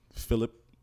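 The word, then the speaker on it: Fillip: It sounds like another word, but it's spelled differently. It's Philip. I'm sorry. What? Like Philip Banks? Wait, like Philip Banks? I swear to God, I didn't make it up. It's F-I-L-L-I-P.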